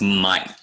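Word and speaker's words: myc: dermatologist dermat means skin this is pronounced Mike myyc it means fungus we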